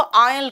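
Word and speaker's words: aisle: रास्ता होता है उसको आयल कहते हैं। बेटा ये ठीक है ना, देखो इसका प्रोनाउंसिएशन याद रखना, आयल होता है।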